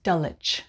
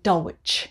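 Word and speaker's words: Dulwich: p.m number eighteen is dullich dullich there's a very famous private school there it's called dulich again we don't pronounce the w so we just say dullich we don't say dolwich it's itch very b-u-r-y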